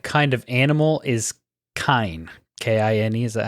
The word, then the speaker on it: Kine: Kine, is that how you pronounce it?